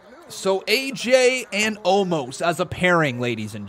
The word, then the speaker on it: Omos: Thumbs up, thumbs down for the pairing of AJ Styles and Omos. Yeah, I do too, Dante. How you doing though, buddy? Good to see you. Amos?